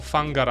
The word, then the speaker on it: Whangara: Whangara. Or Fangara, I believe people even pronounce it. Oh, pho? It's not like pho, it's like pho, the bilabial fricative.